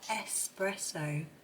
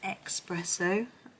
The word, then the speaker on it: espresso: I have to be careful how I say that, espresso. I always used to say espresso. I think a lot of us in the UK did, as if it had an X.